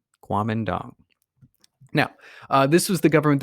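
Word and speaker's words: Kuomintang: party or this fun word right here it's pronounced Guam and dong qualm and dong now this was the government that was put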